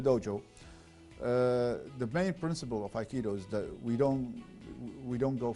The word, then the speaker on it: Aikido: So basically, the basic principle of the Aikido, am I correct pronouncing? Yes, Aikido.